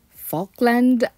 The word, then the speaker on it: Falkland: Now, first of all, I believe I've been pronouncing the house type name wrong. This house is called the Falkland. Falkland by David Wilson.